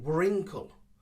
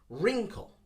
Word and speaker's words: wrinkle: it's a silent one many people say wrinkle wrinkle but of course as you can see from the previous two we do not pronounce the w ignore the w sound and start with the r wrinkle wrinkle that is the correct one i was looking in